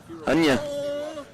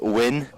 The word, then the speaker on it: Huynh: Hunya. So first of all, everybody's wanting to know, how do you pronounce your last name? Do it on the mic. So my last name is pronounced Win.